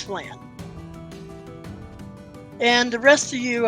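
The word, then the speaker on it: Phlan: As in the tasty caramel dish. Flan? Yes. Is that pronounced? Okay. Not. Okay. Flan. Good. Yep, it's Flan.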